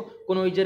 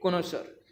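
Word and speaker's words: connoisseur: जो हमारा कनोसर होता है, कनोजर नहीं होता हमारा, कई बच्चे कहते हैं इसको कनोइजर है जी, नहीं, इसकी प्रोनाउंसिएशन होती है कनोसर।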